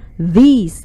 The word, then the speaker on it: these: Ingat ya, kalau ini this dibacanya singkat, pendek. Kalau ini dibacanya these, agak panjang i-nya.